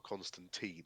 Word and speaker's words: Constantine: John Constantine, or Constantine, as the Americans will pronounce it, although I think that might be right anyway.